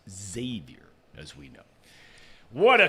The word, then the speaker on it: Xavier: 11 he's in Lawrence to cover the game Xavier big time win I was waiting for you